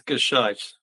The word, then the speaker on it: Gescheit: It's Gishite.